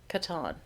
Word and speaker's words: Catan: How do you pronounce Klaus Teuber's classic, The Settlers of Catan?